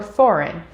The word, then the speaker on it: foreign: the end of words g g is silent when we see it come before m or n in the same syllable for example phlegm gnome or foreign as well as in